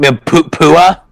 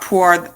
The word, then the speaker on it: Pua: You mean Pua? Not Puar, not the cat from Dragon Ball.